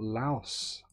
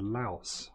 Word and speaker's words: Laos: Oh, we've got Laos up there. Oh, hang on. You are here. Anlong Svay. So we're on the border with Laos, or Lao, however you want to pronounce it, and that's Lao there.